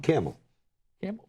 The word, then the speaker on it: camel: never heard say the you said camell you said camel camel yeah c a m e l in case you conf hump back go ahead you did you said it wrong camel camel well okay mhm you're